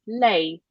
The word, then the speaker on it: lei: Another one is lei. Lei, she means, well, lei means she. Lei in Italian is spelled L-E-I. Lei. How do I remember Lei? Lei, Leia, Leia, Princess Leia. Leia is she.